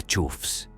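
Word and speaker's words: choughs: Luego están las chobas, sí, se pronuncia chufs y son los más misteriosos del grupo.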